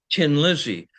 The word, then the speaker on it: Thin Lizzy: And that is it's the pun tin Lizzy because a th in um in Irish is pronounced h. And and so it's you know like the old car tin Lizzy.